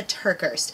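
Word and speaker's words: TerKeurst: about the best yes by Lisa Turkish and that is how you say her name I googled it this is a book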